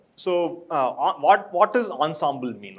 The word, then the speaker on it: ensemble: so but the word the way people pronounce ensemble i was guessing it is french and i'm going with it right so it's it's not ensemble but ensemble so french has different pronunciations it's weird fine uh